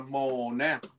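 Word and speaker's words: måneder: Cái này đọc là mồ nè. Viết như thế nào đọc như thế. Mồ nè, âm đê câm nha, đọc là mồ nè. Nhưng mà cái chữ này thường nếu mà mình theo cái quy tắc của tiếng Na Uy thì mình sẽ đọc là mồ nè đờ, đúng các bạn, mồ nè đờ.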